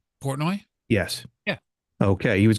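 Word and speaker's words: Portnoy: Dream Theater poroi did I say it right poroi yes yeah okay he was going to hook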